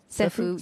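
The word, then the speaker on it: Ceffu: uh you guys use Sefue and if I pronounced that rightfue Sephu Sephu that's always a confusion so uh yeah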